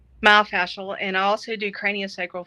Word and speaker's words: myofascial: Myofascia. Myofascial.